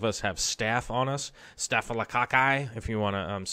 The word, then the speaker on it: staphylococci: us most of us have staff on us staphylococci if you want to say it correctly we're